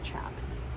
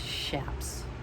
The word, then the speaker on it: chaps: The one time you use the CH properly, and everybody says chaps. But technically it's pronounced shaps.